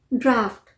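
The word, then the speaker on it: draught: आ रहा होगा नहीं इसे हम प्रोनाउंस करते हैं ड्राफ्ट ड्राफ्ट अब यह मत बोलिएगा कि इसमें एफ कहां है जी एच को हम एफ प प्रोनाउंस करते हैं इसका साउंड एफ प होता है जैसे लाफ में होता है एल ए यू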